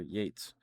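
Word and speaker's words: Yeats: And why is one pronounced Keats and the other Yates?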